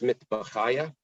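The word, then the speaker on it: מטבחיא: Be careful with the pronunciation here. There's a difference between the liquids of beis mitbachaya or the liquids of beis midbachaya.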